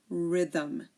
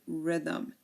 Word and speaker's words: rhythm: giren ghetto and ghost similarly um if a word starts with um RH like we have here um the H is also silent um like in rhinoceros or Rhythm okay rhinoceros or Rhythm there are also a